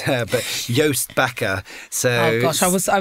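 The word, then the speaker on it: Joost Bakker: name to pronounce but yoast backer so gosh i was i was i was further off than i hoped all right it's all right but uh yo it's like toast with a the letter y yoast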